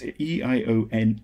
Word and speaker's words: Eoin: Now, I'm saying Owen because I think that's how it's pronounced because it's it's Eoin Eoin. Um, but it's sort of it's it's one of those names that is is of of Gallic extraction and and I think